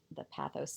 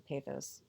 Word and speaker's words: pathos: And I'm going to then get them to learn about this by using the pathos, the pathos, it's pronounced both ways, as we go through.